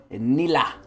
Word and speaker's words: Nilah: On this week's episode of Patch Notes, we have the premiere of our newest champion and Star Guardian, Nilah. And that is how you pronounce it. Nilah.